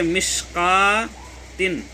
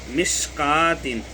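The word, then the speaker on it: مشكوٰة: इस तरीके से मिशकातिन, यहाँ पर भी वाव साइलेंट हो जाएगा, कट लगा हुआ है, मिशकातिन, ये देखिए मिशकातिन, ये वाव हज़फ हो गया।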